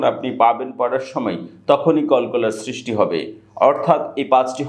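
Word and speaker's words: قلقلة: আর আজকের ক্লাসে থাকছে কলকলার হরফ, অর্থাৎ কোরআন পড়ার সময় আমরা কলকলার হরফ উচ্চারণ করে থাকি।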